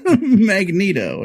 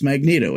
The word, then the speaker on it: Magneto: There's a constant running gag of how do you pronounce Magneto? Is it Magneto because it's a magnet, or is it Magneto? Now, the movies have told us it's Magneto. However, yes, I always thought